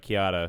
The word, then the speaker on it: Chiara: met an italian girl kiana chiara chiara kiara but kiara is how she pronounces it italian dark skin no